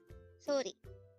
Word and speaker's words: 소리: SORI. This is composed of two syllables. The first syllable is so, and the second syllable is ri.